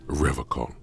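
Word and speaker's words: Revachol: it differently he pronounces rivercon with a hard K unlike other people I'm sorry that's just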